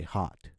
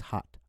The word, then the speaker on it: hot: So when we say hot in English, Americans say hot. So they have a ah sound to it. Okay? So it's hot, a hot cup of coffee.